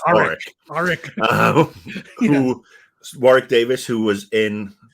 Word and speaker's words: Warwick: And I love saying Warwick because a lot of people pronounce the W, but you're not supposed to. Or the second W, because if you don't pronounce the first W, it's Warwick.